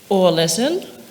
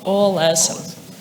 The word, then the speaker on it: Ålesund: And for English-speaking people, the two letters OL together is pronounced pretty much like all, like everybody. So a way to remember it is that Ålesund is like all, everybody, Ålesund.